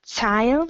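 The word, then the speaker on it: Zeil: The most well-known street is um, called Tile. It's spelled S E I L.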